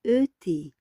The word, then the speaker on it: et: Commençons alors par le ET, que se prononce E, est une conjugation de coordination.